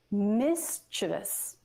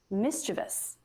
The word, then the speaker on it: mischievous: bad mischievous but remember no that's not it that's wrong it's just three syllables it's mischievous mischievous if you're not familiar